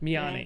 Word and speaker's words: Miani: Is Manny right? Is it or Miani? Miani, yeah.